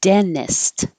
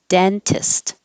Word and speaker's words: dentist: weird parcel parcel and you can drop this middle t because it's following the n dennist or keep the t dentist dennis i'm not going